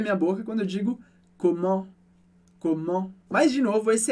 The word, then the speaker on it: comment: coisinhas importantes para entender, mas uma é a pronúncia desse en, quando ela diz comment. E aqui é importante que esse é um som nasal do francês também, mas diferente do en em demain, que a gente viu antes.